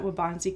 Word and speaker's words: Waubonsee: Today I'm here with a very special guest, Jarod Ericksen, the head coach at Waubonsee Community College.